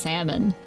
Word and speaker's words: salmon: Am I pronouncing it like salmon? Because that's how I read it, and like I know how it pronounced, like... It's like I read it as salmon because it's got the L in it, but like I know it's pronounced salmon.